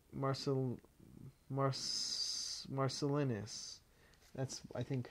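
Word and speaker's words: Marcellinus: e l l i n u s amminus marcelin Marcel Marc marcelus that's I think how you say it and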